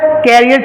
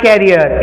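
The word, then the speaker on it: career: नहीं होता भाई प्रोनंसिएशन इसको लोग अक्सर कैरियर चिल्लाते हैं कि हाउ is your करियर going on इन माय कैरियर इन हिज करियर in year कैरियर ये सारे कैरियर नहीं होते भाई इट इज प्रोनाउंस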